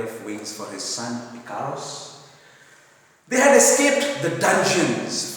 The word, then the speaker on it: Icarus: He said with regret, alas, in the beginning, that he had been as foolish as Icarus, Icarus, pronounced as Icarus, he had been as foolish as Icarus had been.